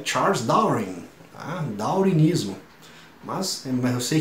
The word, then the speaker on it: Darwin: Mas no inglês da Inglaterra, o W ali, ele não pronuncia, tá? Então fica com som ali de Darwin, tá?